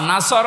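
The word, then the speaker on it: نصر: ইযা জা নাসরুল্লাহি ওয়াল ফাত, এখানে সোয়াদ আছে, নুন সোয়াদ র, নাসর মানে সাহায্য। নাসর মানে কি? কেউ যদি মুখটা গোল না করে সোয়াদ বাদ দিয়ে সিন বলে উচ্চারণ করে ইদা দা নাসরুল্লাহি ওয়াল ফাত, নুন সিন র, নাসর মানে ঈগল পাখি।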